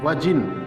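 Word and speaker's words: virgin: वजिन, इसमें are silent है, ध्यान रखिएगा।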